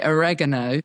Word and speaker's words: oregano: Like we say, you say oregano, we say or what do we say?